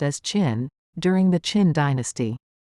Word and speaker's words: Qin: The most famous wall was built between 226 and 200 BC by the first emperor of China, Qin Shi Huang, Qin pronounced as Qin, during the Qin dynasty.